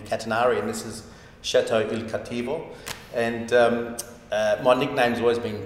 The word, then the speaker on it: Il Cattivo: How do you say it properly? Il Cattivo. That's much, much better. Much better.